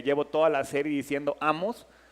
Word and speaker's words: Amós: toda la serie diciendo Amós y el libro se llama Amós. Ahí está el acentote. Es más, le dije a David, ponle el acento porque no lo tiene y yo lo llevo pronunciando mal.